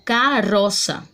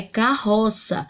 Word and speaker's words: carroça: só, na palavra carroça, se eu tivesse escrito apenas com um R, como ele está no meio das duas vogais, eu teria que ler ele como carroça. Só que a palavra não é carroça, A palavra é carroça. Então, por isso, eu tenho que escrever 2 R's, ok?